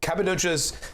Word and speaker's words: Cappadocia: So Cappadocia's, did I pronounce that correctly?